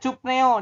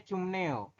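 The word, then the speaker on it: 춥네요: ya ber seper ya tulisannya cupneo dibacanya cumneo jadi oneren hari ini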